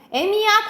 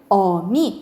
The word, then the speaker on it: 어미: 표준 발음은 적용되지 않는데, 표준 발음은 그냥 아기, 어미.